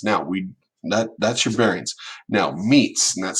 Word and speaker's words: metes: Now meets, and that's spelled METES if you're looking it up.